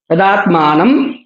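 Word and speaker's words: तदात्मानं: तदात्मानम आत्मानम न के ऊपर अनुस्वार है। तदात्मान वहां अनुस्वार ही है। मकार नहीं है। तदात्मान इस प्रकार उच्चारण होगा।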